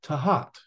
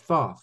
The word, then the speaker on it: Thoth: you know modern told him that it's actually pronounced tahat instead of Thoth or Thoth but I mean it's all fine for me